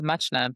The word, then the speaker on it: Muchna: And today, we have a special guest, Muchna. Did I pronounce that correctly? It's Muchna, but you pronounce it closer than a lot of people do.